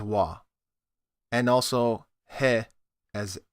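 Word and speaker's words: は: Certain particles in Japanese change their pronunciation depending on usage as a particle or as an ordinary pronunciation character. Such is the case with ha as wa, and also he as e.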